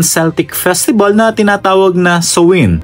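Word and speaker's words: Samhain: festival na tinatawag na soin. Parang kung titingnan natin samin eh no? Pero ang pronunciation niyan ay so na ipinagdiriwang ng mga Celtic people sa Irland, Scotland at northern France.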